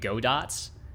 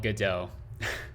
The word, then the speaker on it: Godot: don't say go dot most normal people say godot uh i guess if you want to be a contrarian and look really uneducated you could call it godots uh good yeah i